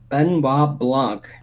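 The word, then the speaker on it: Benoit Blanc: And it brings back Benoa Benoa Benoa Blanc. That's how you say his name.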